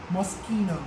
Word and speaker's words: Moschino: love must Gino okay this one is pronounced love Moschino Moschino eskimo so that's the pattern your guys bustamante you